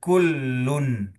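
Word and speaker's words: كل: sarana latihan ya qul kullun qul qul kullun qul kullun gitu ya qul kullun gitu ya yang pertama qul Q qul itu huruf qof, tetapi kullun, kullun itu huruf kaf.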